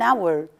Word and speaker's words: hour: honorable person or an hour here the letter H is not a vowel but we don't look at it at all because it's silent here it's a silence